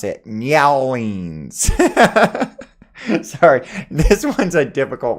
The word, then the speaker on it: New Orleans: It's pronounced either New Orleans or Narlands.